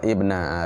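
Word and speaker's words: ابنَ: In qata amaluhu ada sungguh orang tu silap baca je bacanya idza mata ibna Adam. Baca ibna. Bukan ibnu fa'il.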